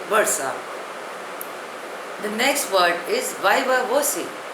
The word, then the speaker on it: viva voce: The next word is viva voce. Spelling is V-I-V-A-V-O-C-E. Pronunciation is viva voce.